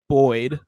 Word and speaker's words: buoyed: but it'll surely be buoyed by the early signs." Did I pronounce that correctly, Greg? Buoyed, like a buoy.